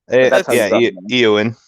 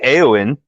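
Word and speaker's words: Éowyn: Eowyn. Yeah, Eowyn. But that's still like Eowyn, because you drag out the E.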